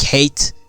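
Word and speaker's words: Hayt: for calling his name you see hate is pronounced just like hate interesting huh you CL like so bastard before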